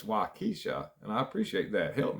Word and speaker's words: Waukesha: had i couldn't spell i couldn't pronounce waukesha earlier i was saying waukesha and somebody in the comments said hey it's waikisha and i appreciate that